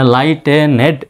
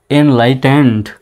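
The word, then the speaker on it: enlightened: progressive progressive and ইনলাইটেন্ড মানে লাইটেনেড এভাবে নয় লাইটেন এনলাইটেন্ড এনলাইটে ন্ড সোসাইটি ইট ইমপওয়ারস ইম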